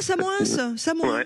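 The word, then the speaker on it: Samoëns: Ah, Samoin. Oui, je connais bien, ouais. J'ai fait une colonie de vacances. On prononce pas le S, apparemment.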